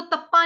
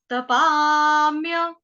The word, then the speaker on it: तपाम्य: तपा, इसको तप्पा नहीं कहेंगे, तप्पा नहीं है, तपा, तपाम्य, तपाम्य, तपा जो है वो